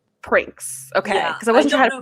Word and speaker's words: Prinx: i feel like i've been pronouncing it i pronounce it as pranks pranks okay because i wasn't trying that's like the